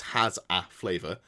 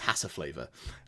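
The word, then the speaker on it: hasaflavor: in my my head I know it's has a flavor but I read it as hassa flavor uh just wanted to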